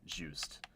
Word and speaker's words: Juste: his name is Juste Belmont, because obviously it's pronounced Juste, but it's almost spelled like just.